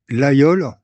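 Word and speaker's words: Laguiole: Donc on dit l'ayol, on ne prononce pas le G en avyon.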